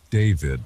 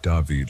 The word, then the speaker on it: David: David, not Davided like some people say it.